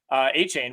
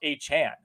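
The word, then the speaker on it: Achane: I think we do need to talk A-Chain, which, by the way, I saw a tweet this morning. It is not A-Chain. He's clarified that he wants it to be pronounced A-Chan.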